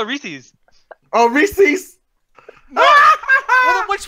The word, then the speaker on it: Reese's: it's Reese's. It's Reese's. You got it. What? What did you used to call it? Did you just say recess?